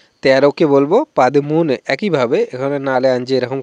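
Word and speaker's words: പതിമൂന്ന്: 13কে কিন্তু মালায়ালাম ভাষায় আমরা বলবো পাদিমুনে। 13কে বলবো পাদিমুনে। একইভাবে এখানে নালে আনজি এরকম করে উচ্চারণ করতে হবে।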